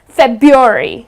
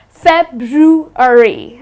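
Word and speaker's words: February: it incorrectly the well the way they pronounce it is febuary they tend to drop the are but that's incorrect the correct pronunciation of this month is fat brew re okay so it's something like this ok so it's bad brew hurry please do not drop the are it's not sub Yuri but it is fab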